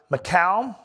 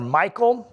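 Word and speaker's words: Michal: up marrying saul's daughter macau or michael depending on how you want to pronounce that um and yet early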